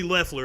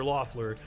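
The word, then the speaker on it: Loeffler: reverend warnock and kelly leffler apparently i've been saying her name wrong i've been calling her lawfuller also i need to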